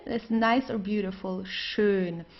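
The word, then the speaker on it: schön: like that okay so shun is nice or beautiful shun here you have an S CH it's pronounced exactly the same way as the sh in in English Okay like to shine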